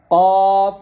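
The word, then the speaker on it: ك: এটা আমরা অনেকে কফ জবর কাফ বলি, মানে এই দুটা হরফ আমরা একইভাবে উচ্চারণ করি, তো এক উচ্চারণ করার জন্য এটা হবে কফ, এটা হবে কাফ।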